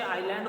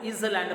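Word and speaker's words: island: ऐसे साइलेंट है, बहुत से बच्चे आइलैंड को इजलैंड पढ़ जाते हैं, आई एस इज, एल ए एन डी लैंड, इजलैंड ना, एस जो है बेटा साइलेंट है, ठीक है। तो उसकी प्रोनाउंसिएशन सही रखना, आइलैंड बोलेंगे इसको, आइलैंड रीजन।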